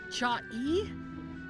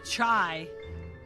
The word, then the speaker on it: chai: world happened there chai Google says it's chai chai that's according to the kingbridge dictionary but we all know how English is English teaches words a lot so it's not cha I don't pronounce it cha you told me to